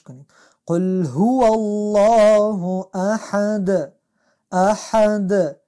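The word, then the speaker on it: أحد: قل هو الله احد، احد ایجا هم حی از باید از حی از وسط حلق با فشار تلفظ شد.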